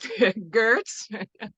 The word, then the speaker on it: Geurts: Can't pronounce the G, but Geurts.